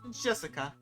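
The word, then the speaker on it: 朱志香: Anyway, this is pronounced Jessica.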